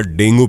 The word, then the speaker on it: dengue: है प्रचलित भाषा में हम डेंगू कहते हैं लेकिन इंग्लिश में इसका नाम डेंगी है जिसमें प्लेटलेट्स बहुत तेजी